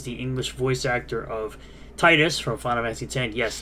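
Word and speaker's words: Tidus: Taylor who is the English voice actor of Titus from Final Fantasy 10 yes that is the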